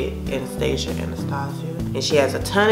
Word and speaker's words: Anastasia: That's how you say it, Anastasia.